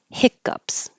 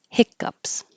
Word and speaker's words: hiccup: I am hiccuping and I have the hiccups. Hiccups. It sounds kind of like a hiccup when you say that word.